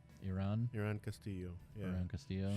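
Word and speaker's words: Irán: It looks like it's Iran, but it's got the accent above the A. Iran Yeah.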